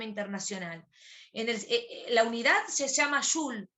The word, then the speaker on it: joule: La unidad se llama joule. Yo le digo joule. No sé si la profe que da la teórica lo dijo de otra forma, se dice también julio, y se escribe joule.